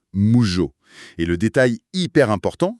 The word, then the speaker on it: 無常: D'abord, on a mu qui se dit juste mou comme en français. Tout à fait. Et ensuite, il y a le jo qui se prononce en fait Jio un peu à l'italienne, genre comme dans le mot jorno avec un haut très long. Voilà, donc ça donne moujo.